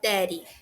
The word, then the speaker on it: daddy: E a pronúncia de daddy é como se tivesse um R no lugar daqueles dois D, né? Daddy. Porque justamente é dessa junção das duas letras D tem esse som, daddy.